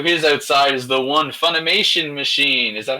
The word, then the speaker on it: Funimation: And then to his outside is the one Funimation machine.